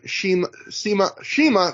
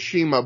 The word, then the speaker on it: Shima: They keep pronouncing it Sema. I hear everyone else these days pronounce it Shima. So now, after listening to 3 hours of them say Sema, I'm going back and forth on it's confusing me.